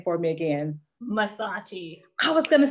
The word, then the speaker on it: Massachi: Mersace.